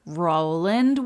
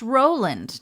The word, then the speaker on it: Roland: Angeles for movie director Roland West, whose name is pronounced Roland, not Roland. So he named the ship for his wife, who is an actress, and her name was Jewel.